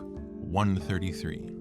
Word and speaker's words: I.33: And even though it is written as I.33, that's how it's pronounced. Fecht Book 133, in case you want to look it up.